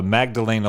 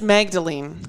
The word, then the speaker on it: Magdalene: The Magdalena laundries. It's just Magdalene. Magdalene. I don't know how they pronounce it. I found out when I was typing it up. It's just Magdalene, like Mary Magdalene.